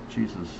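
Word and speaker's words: Jesús: other guy I met was named Jesus or Jesus. That's the way it's pronounced. Jesus.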